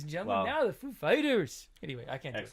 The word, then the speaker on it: Foo Fighters: Is the accent on the Foo or Fighters? And he said, that's a good question. It's on Fighters.